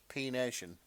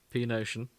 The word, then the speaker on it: P Nation: No, it's like the letter P space nation.